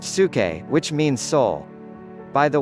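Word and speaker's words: ψυχή: is from the Greek word P su ke pronounced su ke which means soul by the way my minor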